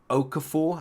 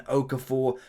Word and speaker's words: Okafor: We have Sesko and also Okafor, I think is how you pronounce his name.